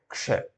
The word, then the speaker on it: क्ष: क्ष, छ का उच्चारण ये जो है छ नहीं है, कुछ कोई बच्चे जो है छ ये नहीं है, ये ठीक है, ये छ अलग है, छ छाता वाला। इसको क्या बोलते हैं? कै और श।